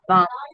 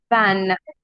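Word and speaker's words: vingt: Van. Don't pronounce N completely.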